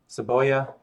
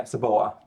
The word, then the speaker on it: cebolla: Onion, yeah, cebolla. Cebolla. It's not cebolla, it's cebolla. Because the double Y makes a y sound.